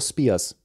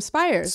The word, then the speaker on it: Spires: Which is weird because I'm more German than I am Scottish, but I have the Scottish pronunciation.